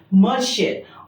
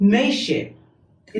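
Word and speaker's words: Mercier: तब जैसे ये, अगर आप इसको इंग्लिश में प्रोनाउंस करेंगे तब आएगा मर, आर आएगा, मर्शियर। और अगर आपने इसको फ्रेंच में प्रोनाउंस करा तो मेशियर, दोनों आर साइलेंट हो जाएंगे।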